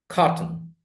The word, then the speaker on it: cotton: 1 syllable. Pulse, samples. So, like this is the next one, cotton.